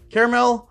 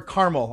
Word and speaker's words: caramel: as i know um also caramel or caramel i know i put this on other videos but i am definitely team caramel three syllables team caramel let me